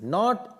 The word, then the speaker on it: knot: Not in the heart. Not. K-N-O-T is called not. Not K is silent here.